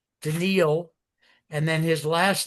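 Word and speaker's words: Daniil: His name is unpronouncable. It's d an i l denil.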